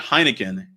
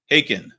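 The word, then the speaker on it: Heikin: Not Heineken. Haken. Okay. It's spelled H E I K I N.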